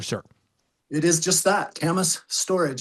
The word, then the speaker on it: Kamas: So, uh was it pronounced camas storage or for anybody out there that wants to know how do you pronounce that there, sir? It is just that Camas storage.